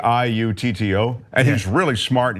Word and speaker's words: Sciutto: I never knew how to pronounce his last name. That's how you say it. Sciutto.